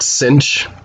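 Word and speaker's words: sinh: pronouncing this out loud you just call it cinch it's just the way it's pronounced so this is cinch x so look at what it is it's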